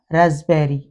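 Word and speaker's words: raspberry: यहां पर लेले हम पी तो पी के बाद यदि बी लगा हो तो पी साइलेंट हो जाता है कबर्ड या रसबेरी और प से पहले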